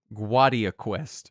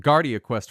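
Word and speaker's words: Guardia Quest: Gua- Guad ia Quest. Yeah. Yeah. Cuz I'd called it Gardia Quest for so long. There's no R.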